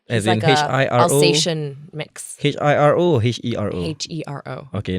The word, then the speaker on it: Hiro: Hero, like Enrique Iglesias. I can be your hero.